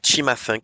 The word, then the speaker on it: Cimafunk: Bah deuxième, je vous invite à écouter Chima Funk. Ça s'écrit Cimafunk.